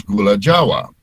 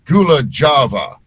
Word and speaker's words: Gula Jawa: voiceover, and back then I had no idea how to pronounce Indonesian words. So I was calling Jogja, I was calling Yogyakarta, and I was calling the sugar was Gula Java, and Gula Java.